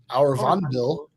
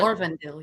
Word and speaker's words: Orvandil: AD 895, King Arvandil. Okay. Orvandil, yeah. Orvandil. Trokies.